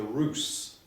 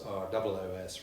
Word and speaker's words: Ros: Well, I'm going to talk about a medieval baron called Robert de Roos, spelt R-O-S but pronounced as though it was R-O-O-S, Roos.